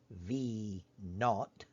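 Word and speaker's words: v₀: if you will where v with a subscript of zero which is usually pronounced v naught and s with the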